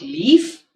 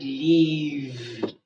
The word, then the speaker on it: leave: Not leaf, but leave. In other words, it's voice. The moment you hear that, you know it is VE.